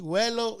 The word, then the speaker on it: vuelo: Vuelo to me, when I hear it from the raza around me, vuelo is with a W, like vuelo.